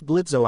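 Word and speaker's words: Blitzø: That's Blitzo, I see. Are kids still running away from you? The jester robot taunts. No, and anyway the O is silent now, you iron moron.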